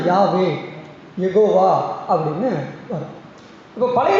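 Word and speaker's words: Yahweh: ஆனா இப்ப ஒய் ஹெச், டபிள்யூ எச்சு என்ற வார்த்தையை உச்சரிக்க முடியாது ஏன்? அதுல வௌவல்ஸ் உயிரெழுத்து இல்ல. ஆங்கில உயிரெழுத்து இல்லை. அப்ப அத உச்சரிக்கணும்ங்கறதுக்காக Yக்கு பக்கத்துல ஏ போட்டாங்க. Hக்கு பக்கத்துல ஈ போட்டு யாவே அதை உச்சரிச்சு சொல்லணும்னா யாவே.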